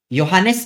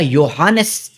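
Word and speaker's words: Johannes: चलिए फिर आते हैं हमारे योहानिस केप्लर। वैसे स्पेलिंग में जे है लेकिन प्रोनंसिएशन इसका योहानस केप्लर ऐसे ऐसे होता है। ठीक है? योहानिस नहीं बोलते।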